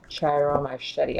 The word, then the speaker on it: Ciro Marchetti: Ciro Marchetti, I believe is how you say his name.